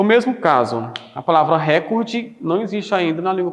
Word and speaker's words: recorde: mesmo caso, a palavra recorde não existe ainda na língua portuguesa, não foi aportuguesado. Como não tem acento, a pronúncia adequada, ou seja, a prosódia da palavra é recorde e não recorde.